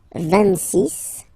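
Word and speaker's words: vingt-six: So remember it's ending with X, but then we pronounce it S. 26, 27.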